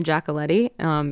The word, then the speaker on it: Giacoletti: Oh, so my social media, where all my music stuff is just my name, Christina Giacoletti. It's Christina with a CH. And Giacoletti is spelled Giacoletti.